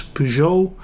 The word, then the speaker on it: Peugeot: It's Peugeot, that's how you pronounce it in Dutch.